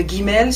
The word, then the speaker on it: Gimel: Et le Gimel se prononce G, comme le G en français, le G dur.